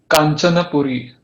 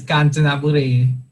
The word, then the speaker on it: Kanchanaburi: Okay, so the next word is Kanchanapuri. Yeah, that's pretty clear. Yeah, it's Kanchanaburi.